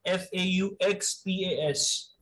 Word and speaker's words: faux pas: Write down the word faux pas. F-A-U-X-P-A-S. It's a social disorder. F-A-U-X-P-A-S. आपके foreign phrases का part है, sir. The pronunciation will be faux pas. The S is silent, X is silent.